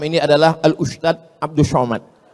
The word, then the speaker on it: Somad: Enggak salah secara bahasa Indonesia, tapi secara bahasa Arab. Bahasa Arab itu ada huruf za, ada huruf ja, ada huruf d, ada huruf dza. Dza. Letakkan ujung lidah di atas gigi. Atas gigi atas.